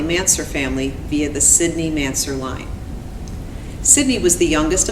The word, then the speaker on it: Mansur: brother and I are aware that some people pronounce the man's her name as Mansour but today we will be using the pronunciation of mansur which is how our grandmother pronounced the name